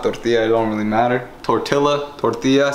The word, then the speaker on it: tortilla: Tortilla, tortilla, say it right guys, tortilla.